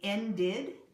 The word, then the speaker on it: ended: to end the movie ended it's pronounced in did a one syllable word becomes a two syllable word in the past okay so we've talked